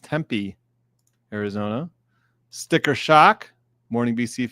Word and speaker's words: Tempe: Good morning all from commute to temp pronounced Tempe Arizona.